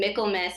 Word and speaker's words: Michaelmas: carrots for fo r and then Mikkel mess is spelled like Michael mas thank you so much